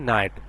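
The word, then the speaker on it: knee: এর সাউন্ডটা সাইলেন্ট থাকবে কে এন ডাবল এ এর সাউন্ড হচ্ছে কি নি মানে কি নি মানে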